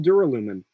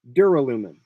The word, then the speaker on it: duralumin: My original pronunciation of this, I pronounced it as duralumin, and I think that's way more fun. Duralumin. It gives you the liquid U, which is just more fun to say, and I think